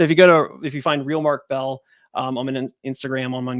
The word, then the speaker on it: Beal: It's actually pronounced Bell. There's an A in it.